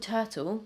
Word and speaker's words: TRTL: This is by the brand called Turtle, which is spelled like this, TRTL.